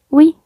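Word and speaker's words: ㅟ: Tiene una U y tiene una I. Entonces se va a pronunciar oui, así como cuando dicen en francés oui.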